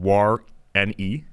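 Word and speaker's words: warreni: actually it is a dinosaur and parksosaurus waren pronounced parksosaurus and then War NE e which is like Warren wary was a small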